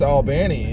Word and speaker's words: Albany: Well, it's pronounced Albany.